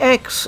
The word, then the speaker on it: X: a particular issue because in Japan in the gaming scene the x is generally pronounced as cross so going with calling